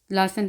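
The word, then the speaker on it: lassen: और इसकी एक और मिसाल देख लेते हैं, लासन, लासन का मतलब होता है छोड़ना। तो जब भी ट्रिपल एस होगा, डबल एस होगा, तो ये सीन की आवाज़ देंगे विसन, विसनशाफ्ट, लासन, लासन, LASSAN, लासन।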